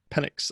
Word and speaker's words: Penix: Just throw in there the subject line, Henry, how do you pronounce that? Like Pentix? Is it Penix? Penix.